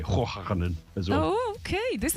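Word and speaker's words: Hoegaarden: Hojarden. It's not Hogarden? No, and I'm pronouncing it the Dutch way, Hojarden as well.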